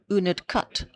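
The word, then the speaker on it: Unadkat: us how to pronounce uned cut. All right. Apparently it's cut and not cat cuz we've all been saying cat.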